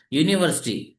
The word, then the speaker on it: university: is a university student university though the letter U is a vowel but it produces a sound of a consonant U u u sound y u sound so that's why we